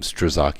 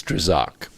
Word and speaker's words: Strzok: peter strzok that's how you say his name strzok you want to say stroke or struck but it's strzok it got this documented and now the declassified